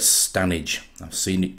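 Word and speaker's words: Standedge: about three miles long it's spelt stand edge but it's definitely known as stanage i've seen it pronounced on tv as stand edge as well and i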